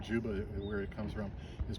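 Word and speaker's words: Dziuba: case you were wondering what the last name Juba where it comes from is Polish actually originally spelled DZ iuba but pronounced Juba and in Polish this plant is called babov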